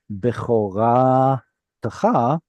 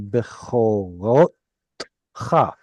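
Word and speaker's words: בְּכֹרָתְךָ: How do I know that it should be bechora techa instead of bechorot cha?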